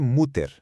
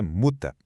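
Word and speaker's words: Mutter: A gente tende a ler muter, né? Mas o certo é muta.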